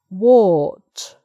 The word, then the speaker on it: wart: And then finally, in this section, cart, dart, part, wart. So it's a or again. It changes the vowel to a more circular, a more round shape.